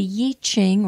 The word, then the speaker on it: I Ching: heard of it, and some of you have heard it pronounced yi, like Y-I or Y-E-E, Ching, C-H-I-G, and it has to do with changes. So the Yi Ching or the I Ching is what is called the Book of Changes.